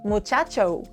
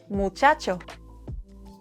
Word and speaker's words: muchacho: English speakers love to turn the Spanish O into O, but we don't say amigo, we say amigo. We don't say muchacho, we say muchacho. In Spanish, O is short, round, and dry. Think of it as a single clean note and not two sounds like in English.